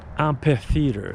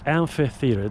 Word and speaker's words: amphitheater: Most people in North America say amphitheater. It's amphitheater. There's an F as in Frank sound. PH produces the sound F. F as in Frank. It's not an amphitheater. It's an amphitheater. Like ampha. It's a Greek word.